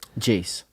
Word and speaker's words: iayze: Is it how you pronounce his name? iayze? Jace. Is it really Jace?